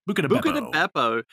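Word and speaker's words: Buca di Beppo: Buca da Beppo.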